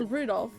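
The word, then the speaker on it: Rudolf: It's just Anyway, this guy's name is pronounced Rudolph.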